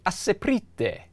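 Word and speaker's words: Aseprite: I had to ask the developer because it's spelled A-S-E-P-R-I-T-E, and he's Argentinian, so I was kind of guessing Asprite. That was my guess. And he said you can call it that, but most people call it Asprite.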